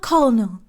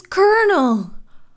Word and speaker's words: colonel: was like, oh, right, it's not Colonel, it's Colonel. I've been saying it wrong. I forgot. It's so easy to forget because why do you type it like that? Why do you write it like that?